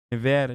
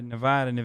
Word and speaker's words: Nevada: no there's still nevada nevada nevada i'm sorry hassan it's pronounced get it right i'm not hearing maricopa